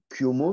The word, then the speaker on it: Cuomo: du coup, avec Cuomo, c'est comme ça que je le prononce bien? Tu peux dire les deux, Ah, mais moi je dis Cuomo à l'italienne.